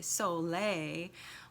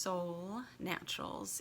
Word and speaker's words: Solle Naturals: you might think it's quite fun to say Soleil but it is pronounced Sol Naturals and so a little bit about myself my